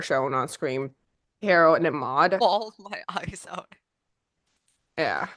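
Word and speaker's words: Maude: How do you pronounce her name? Maud.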